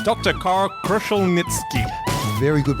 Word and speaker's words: Kruszelnicki: 50 Shades of Gray matter it's Dr Carl kushel nitzki very good pronunciation thank you and once again we have